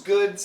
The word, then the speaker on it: goods: and a snake those goods had been those goods had been keep the th here Goods goods go right into a hard vibrated D into a z sound Goods now the word